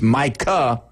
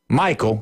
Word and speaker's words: Micah: And he says Michael obviously he told Michael Irvin he called him he called Micah Parsons Micah Michael. He called him Michael in interview. All right. So he mispronounced his name.